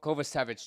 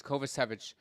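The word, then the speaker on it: Kovačević: to pronounce his name Co kova savich that's what it is kova savich um so that was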